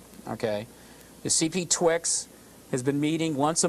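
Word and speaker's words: CPTWG: the last group there the CPT TWD is pronounced CP Twix okay the CP Twix has been meeting once a month in Burbank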